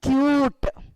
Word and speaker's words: cute: CUT, cut. But when you add, you are using the alphabetical U, cute.